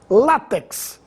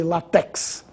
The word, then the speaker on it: látex: habitantes da Península Ibérica látex essa palavra deve ser pronunciada com tonicidade na penúltima sílaba não existe latex maquinaria e maquinário as